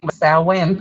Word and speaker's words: Samhain: the time of Allah instead of the heater Samhain pronounced Allen sowwy so when I'd not though that it says Sal when Sam he was started the same hey Sal win okay I go back every back of my